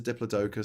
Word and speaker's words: Diplodocus: Mine is a Diplodocus because it rhymes with Hocus Pocus.